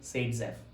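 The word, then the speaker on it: Saytzeff: Alexander ज़ेटसेव which is also known as Seytzeff or pronunciated as Seytzeff.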